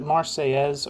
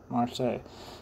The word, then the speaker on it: Marseille: pronounce that is it Marseilles or Marseille because I feel like I've heard people call it Marseilles but it seems like it should be pronounced like Versailles I'll say Marseille Anyway